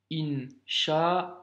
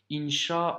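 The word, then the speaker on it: إن شاء الله: flemme hincha en est on ne va pas s'amuser à dire in chaa oh oh oh tu vois il ya trop de l après donc on fait aussi la liaison hincha aux morts ok résumons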